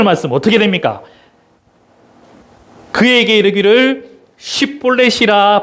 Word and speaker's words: 십볼렛: 그에게 이르기를 십볼렛이라 발음하라여 에브라임 사람이 그렇게 바로 말하지 못하고 십볼렛이라 발음하면,